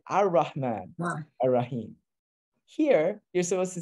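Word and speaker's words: الرحمن: So the thing in Arabic is that the Uthmani script assumes that you know that if you see this alif lam construct, if you have to pronounce it, it's going to be an a. You say Ar-Rahman.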